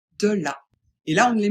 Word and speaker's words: de la: Ce n'est pas est, ce n'est pas et, c'est bien E. Donc on dit de la.